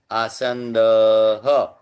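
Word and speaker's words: आसन्दः: तो विसर्ग का उच्चारण कैसे करेंगे? विसर्ग के पहले जो भी स्वर होता है उसका पुनरुच्चारण करेंगे। आसंद।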